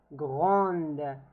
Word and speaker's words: grande: the answer is going to be elle est grande. So the E here stands for feminine. Okay? And in this case, we pronounce the D. Elle est grande.